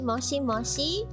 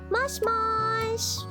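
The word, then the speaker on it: もしもし: Lots of people say mushy mushy. Well, while it is true, while it is um technically correct, the pronunciation is just mush mush mush mush.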